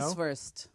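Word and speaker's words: Weißwurst: Do I want to vice vers? That's how you say it.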